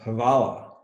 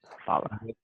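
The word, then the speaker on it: hvala: important word is this one and this is pronounced havala havala it means thank you you say gra mer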